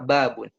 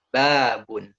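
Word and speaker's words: بَابٌ: Nah, kaidah yang kedua adalah kalau ada huruf mad baik alif, waw, ya, maka tekan pelafalannya di huruf alif, waw, ya. Contohnya apa? Di kata babun. Babun.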